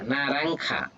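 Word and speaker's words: naranja: আমরা যেটা মালটা বলি লানারা নারাখা। নারাখা নারাখা। নারাংখা যে উচ্চারণ হবে অখ এটাকে যেকে বলা হচ্ছে অহতা সো নারাংখা পেপেকে বলে হচ্ছে পাপাইয়া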